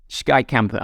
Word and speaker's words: Skeikampen: Okay, so my pronunciation was pretty far off. It wasn't too bad, but it's Skei to begin with instead of ski. Skeikampen. Okay, so there's barely a K to a silent K.